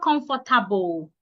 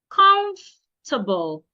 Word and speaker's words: comfortable: Comfortable. It's not comfortable. The O and the R should not be said. comable not comfortable.